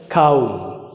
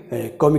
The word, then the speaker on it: comb: सी ओ एम बी में आपका जो बी है वो साइलेंट है और यह बोला जाएगा हमें काउम काउम, जिसे वह कंगा या बाल बाने को भी कौमी कहा जाता है, काउम न कि कौम बया पे नहीं बोला जाएगा।